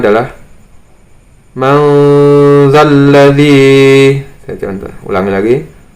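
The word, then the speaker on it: من ذا الذي: Kemudian di sini ada nun sukun bertemu dengan zal, membacanya adalah manzalladzi. Saya contoh, ulangi lagi, manzalladzi.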